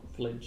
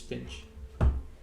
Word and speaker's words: Finch: notes I've got here I've got Flinch and your name wrong it's Finch the joys of searching